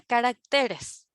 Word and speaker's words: caracteres: susceptibles bueno resulta que la palabra carácter en singular es a ver liana carácter penúltima sílaba su acentuación está en la penúltima sílaba pero cuando se pluralista ya ya no pronunciamos de la misma manera verdad o sea la sílaba tónica ya no ya no es rack sí no por lo tanto en plural la forma correcta es caracteres y en singular carácter cambia el cambia la sílaba tónica los especímenes hallados en